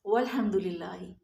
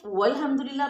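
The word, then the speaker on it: والحمد لله: और भी आता है वल हमदुलिल्ला वो अल्हम्दुलिल्लाह की अलिफ को हम जबर को कहां भेजते हैं वो वाव के साथ मिक्स हो जाती है वो साइलेंट हो जाती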